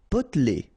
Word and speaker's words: potelé: Potelé. Okay, here you don't really pronounce this E.